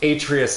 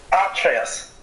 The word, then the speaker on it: Atreus: If we're using Germanic phonetics, even though Atreus is clearly a Latin name, it would be Atreus, with the stress on the first syllable.